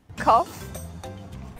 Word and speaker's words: cough: Cough.